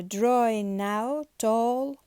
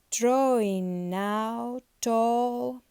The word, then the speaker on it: drawing out all: he disappeared babe after drawing now tall so g is silent and we join the words drawing now tall drawing now tall after